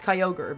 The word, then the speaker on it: Kyogre: I think I might have called Kyogre like Kyogre cuz it had such a weird name. It has such a weird spelling. I mean, of course, like after I figured it out, it was like, "Oh, it's Kyogre." But I think when I first saw its name, I was like, "How the do you say this?"